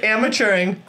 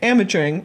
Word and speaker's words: Amateuring: Well, I just say amateuring the way that it sounds. What do you mean? Like, that's how I tell people to spell it. Like, amateuring. It's like the way that it sounds. Like amateur and then put ing on the end.